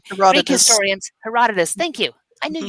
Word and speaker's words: Herodotus: historians, Herodotus.